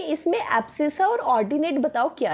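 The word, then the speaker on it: abscissa: थोड़ा सा हार्ड है बट ठीक है, प्रोनाउंसिएशन थोड़ी सी हार्ड मिलेगी, इसको बोलते हैं एब्सिसा।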